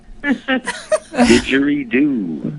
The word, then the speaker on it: didgeridoo: you guys combine chanting, and how do I pronounce the name of that instrument that you blow on? Didgeridoo.